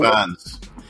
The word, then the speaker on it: Fiennes: Fiennes.